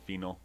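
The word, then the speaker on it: Fienal: want to pronounce it I always said fenal cuz I because of the IE and I have a tendency to pronounce things the German Way when I don't have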